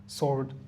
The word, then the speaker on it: Sioux: রং, হু, এখানে কিন্তু pure H উচ্চারণ হচ্ছে হু। Whole, W টাকাচ্ছে, answer, sword, two, এটা আমাদের অনেক চেনা।